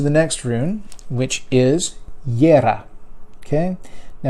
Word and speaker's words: Jera: It's in Northern Europe that J is pronounced as a Y.